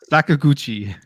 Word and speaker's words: Sakaguchi: again like from mistwalker I can't even pronounce his name anybody saguchi I can try to you guys have it I think you nailed it yeah that's that sounds right say again sakaguchi there you go about right yeah there